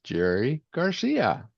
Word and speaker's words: Gerry Garcia: So, please help me welcome Miss Jerry Garcia.